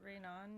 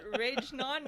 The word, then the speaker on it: Reynon: It's Reynon. not Rage-non, okay?